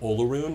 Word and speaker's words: Olarune: So we're going to be on the 2nd of Olaroon, 998 YK. Okay. Olaroon is spelled Olarune.